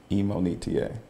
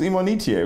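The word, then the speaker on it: Imonitie: it's my fault but the correct way to say my name is emoney ta so people in college when they see me now they're like who's immonitive you know i'm like no not eminem on eta wow yeah okay so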